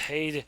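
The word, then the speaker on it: Heide: So it's pronounced Hayde. You just basically wrote it the way it's spelled.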